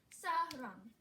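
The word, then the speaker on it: 사랑: Sarang. S-R-N-G. And see, this is at the end of a syllable, so it is the NG sound.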